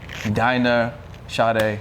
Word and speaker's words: Dinah Sade: Dinah Sade, welcome to the podcast.